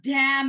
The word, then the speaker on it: damn: N is silent after M. Okay, D-A-M-N. Oh, damn it.